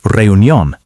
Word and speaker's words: reunión: Another pronunciation challenge is reunión. Some learners say every syllable separately. Native speakers say it more smoothly.